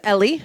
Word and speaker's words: Ellie: My name is Ellie, not Eli, Ellie. My Twitter is EllieBelly because it rhymes and it helps you learn how to say it.